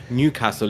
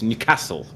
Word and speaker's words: Newcastle: And anyway, actually the proper way of saying it is to put the emphasis on the second syllable. It's not Newcastle, it's Newcastle. That's how they say it up there.